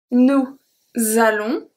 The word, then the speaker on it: allons: The S from nous is going to be transferred to allons and makes a Z sound.